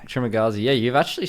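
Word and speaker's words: Trimagasi: Trimagazi.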